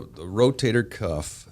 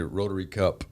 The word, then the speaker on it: rotator cuff: just misunderstand they'll say rotary cup or a rotator cup but it's not a rotator cuff uh it's just like a cuff in your uh the sleeve of